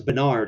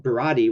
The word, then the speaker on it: Berardi: I got the name wrong too. But I was closer. This was Bernard, according to Mr. Chilito. But Berardi was the kid's name.